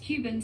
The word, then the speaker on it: Kuvings: That's pronounced Cuban slow juicer.